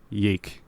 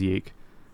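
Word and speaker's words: YIIK: Now, that is Y2K spelt with Roman numerals, but they used lowercase Roman numerals a lot, so it looks like it's spelled Yeeek. Yeah. So fans and haters alike often refer to the game as Yeeek.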